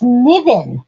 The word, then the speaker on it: Niven: I don't know how you pronounce that. Niven? It's Niven.